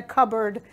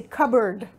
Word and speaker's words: cupboard: can put in a cupboard notice that I don't pronounce the P I say cupboard cupboard do you have